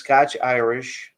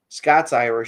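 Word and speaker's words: Scots-Irish: So yeah, we had a good um this guy says, ScotchIrish. ScotchIrish. ScotsIrish. That's actually how it's pronounced.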